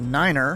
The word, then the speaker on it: nine: seven eight it's basically just eight and a Niner 99.